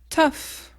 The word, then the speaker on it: tough: on va prononcer deè catégorie F F on ouvre bien la bouche c'est pas comment vraiment français tu ouvres la bouche les mots essentiels à